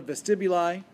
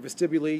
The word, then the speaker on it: scala vestibuli: The cochlea is also a fluid-filled chamber separated by membranes, and these membranes are the scala vestibuli, or vestibuli, you'll hear it pronounced both ways.